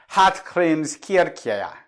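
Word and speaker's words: Hallgrímskirkja: Hallgrimskirkja means Church of Hallgrim, pronounced in Icelandic as Hallgrimskirkja.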